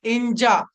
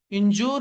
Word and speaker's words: injure: Next అండి ఇంజా. INJURE, ఇంజూర్ అంటారు కదండి. ఇంజా, జా అంతేనండి.